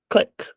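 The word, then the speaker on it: Qlik: I would go with next we have click or as I insist on calling it KCK because I'm pretty sure that's how that's pronounced click sense is a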